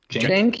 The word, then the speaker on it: Cenk: Cenk Ugar.